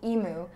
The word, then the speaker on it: emu: Because we all pronounce it emu. And someone's like, guys, it's emu.